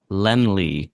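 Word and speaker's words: Laemmle: And I think just a pronunciation check, Lenley is how I've always heard Carl Lemley's name.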